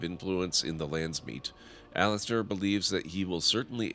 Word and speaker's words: Alistair: seek out ARL aan Alistair thinks that you should seek out that I don't know why I always pronounce it that way it's Alistair Alistair thinks you should seek